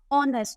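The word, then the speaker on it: honest: ब वि साइलेंट देखो कुछ वर्ड है जो ए से स्टार्ट होता है पर साइलेंट होता आर ऑनेस्ट तो यहां प ऐसा लग रहा है ओ आर पढ़ रहे है ऑनेस्ट पढ़ रहे है एच साइलेंट है ये सबसे पहले भी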